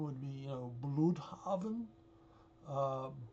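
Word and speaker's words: Blüdhaven: U, I guess the proper pronunciation would be, you know, blavin. Uh, but everything gets anglicized.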